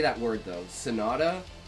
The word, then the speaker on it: sonata: Sonetta. I can't say that word though. Sonata. Sonata is I know it's like doesn't sound like it's spelled and I know it's like a musical term.